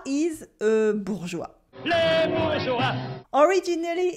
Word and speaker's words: bourgeois: In bourgeois, the S is silent and the E is only here to make a soft G. This way, it sounds like je sound instead of g sound. There are two syllables. The first one is bourg with the ou sound and a French R, bourg, bourg, bourg. And we have joie, joie, like joy, la joie.